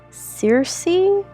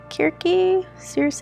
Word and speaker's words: Circe: She is a witch, and she is the daughter of Circe? Circe? I mean, there's two ways to pronounce it.